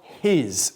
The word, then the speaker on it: his: Y fíjate en la pronunciación de his, con este sonido de la H aspirado, como his. No decimos his, sino his.